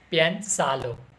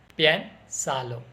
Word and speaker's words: Piénsalo: Otra frase y palabra de española es que piénsalo. Piénsalo.